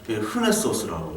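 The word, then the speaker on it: Renaissance: 그 와인 이름처럼 생겼는데 그 샤또 브리앙이 르콘세르바티르, 르콘세르 우리는 르라고 얘기하는데 불어는 이제 흐 발음이 납니다. 흐랑 비슷하게. 우리가 르네상스 하지만 흐네소스라고 해요.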